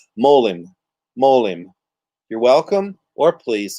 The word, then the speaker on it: Molim: The most common way to say them, it's an easy 2-syllable addition to your vocabulary. Molim.